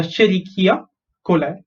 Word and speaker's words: Escherichia coli: Okay, so Escherichia coli.